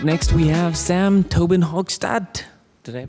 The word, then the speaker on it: Tobin-Hochstadt: right, next we have Sam Tobin-Hochstadt. Did I pronounce that right?